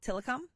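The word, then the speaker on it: Tillicum: you don't know that it's called tiom you think it says something else uh do they have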